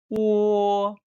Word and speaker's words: 喔: Yes, it pronounced like 喔. Okay. 喔, 喔. Good.